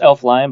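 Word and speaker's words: Elflein: on our new center, Elflin? I don't think Elflin. Elflin. You can just say. I think it's pronounced Elfline, but I like saying Elflin. It just feels more efficient.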